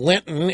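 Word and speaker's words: Lynton: the other guy is Michael Lenton Lyn t t n I'm I think he pronounces it Linton anyway an email thread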